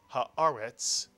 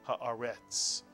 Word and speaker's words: Haaretz: And this is a vertical line that tells you to accent the word on this syllable. And therefore the word is read haaretz, not haaretz. Haaretz.